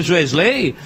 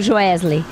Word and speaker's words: Joesley: que eu acho inacreditável Por que você mudou a intonação a sílaba trônica do nome do jesley é jesle é jesley é ele não tem nada a ver com lei tem toda razão jesley